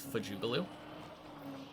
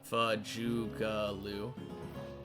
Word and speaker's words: Fajugalu: Probably the natural way that I pronounce it is Fajugalu. Fajugalu. The A's are sounds.